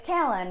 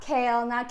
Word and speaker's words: Caelyn: It's Kalen. Not Kale, not Kate, not Kelly, not Caitlyn.